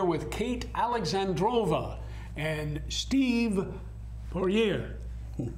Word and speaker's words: Pushor: I'm here with Kate Alexandrova and Steve Pushor. Say it right this time, Steve. Pushor.